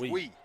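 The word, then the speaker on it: Nguy: Wee. Tyler Wee. Okay. What number is he, 54? Tiger Wee. Wee? N-G-U-Y. N-G-U-Y. Is Wee.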